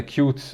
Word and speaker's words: Qt: a look at the cute toolkit so let's switch over to the tab here and as you can see here qt or pronounced qt is a widget toolkit